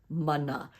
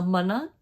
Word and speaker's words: mana: means spiritual power now Mana can sometimes be mispronounced as mana mana we want to make sure that that M and A is pronounced Ma just like in Maui repeat after me Mana manna